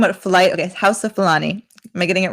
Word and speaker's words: Fulani: the house house of flying people am i pronouncing this correctly hausa okay and you're talking about flight okay house of fulani am i getting it right now yes i